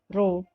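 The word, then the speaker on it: ρ: Hai gimana disimbolkan dengan ini roh ini bacanya roh di mana Rom merupakan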